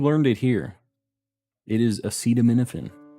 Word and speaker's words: acetaminophen: hold on I'm trying to we're getting the pronunciation of how to say this uh nothing acetaminophen uh acetaminophen apparently okay let's get this other one going